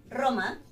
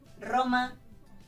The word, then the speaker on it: Roma: Por ejemplo, Roma, o me gustan los retos, ¿sí? Al principio de la palabra, the beginning of the word, the sound is a strong one, R, Roma, reto, ¿sí?